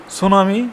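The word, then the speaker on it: tsunami: প্রায় পরীক্ষাতে আসে সুনামি সুনামি বানানটা কি সবসময় আপনারা মনে রাখবেন যে সুনামি প্রথমে একটা টি বসাবেন আর বাকি এস ইউ এন এম আই সুনামি এস ইউ এন এম আই সুনামি মানে টিটা উচ্চারণ হবে না এটাই মনে রাখবেন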